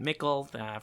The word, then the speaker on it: Mickle: Mickle! Yeah, Mickle, which rhymes with... Sickle.